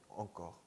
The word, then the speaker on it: encore: 헌데부 헌데부 encore encore encore 아니에요. 한국식으로 한국말로 표기할 때는 앙코르 이렇게 표기를 하는데요. 발음할 때는 프랑스 원래 발음은 엉이 된다는 거죠. 아, 이해되시죠? 아시겠죠? encore encore employé employé 똥, 똥.